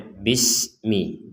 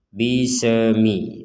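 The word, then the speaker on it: بِسْمِ: sin yang bertanda sukun dan kita membacanya bismi. Jangan sampai membaca dengan dipentalkan atau dipantulkan. Bisemi. Bisemi.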